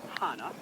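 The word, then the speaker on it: Hannah: old her name is Hana rhymes with the city in Hawaii but spelled like the Old Testament Dame Hana but it's Hana and Hana it's her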